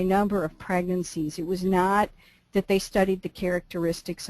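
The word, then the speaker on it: Gnoth: a good German study by a guy named no it's g n o t no and and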